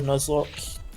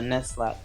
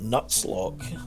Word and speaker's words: Nuzlocke: I like the way you speak, but Nuzlocke. I don't know what that means, but No, just imagine Nut with Z and then Lock, L-O-C-K-E at the end.